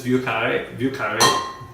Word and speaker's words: Vieux Carré: It's Vieux Carré.